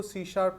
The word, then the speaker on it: C#: language called सी शप pronounce इसको सी शार्प करेंगे ठीक है आपके पास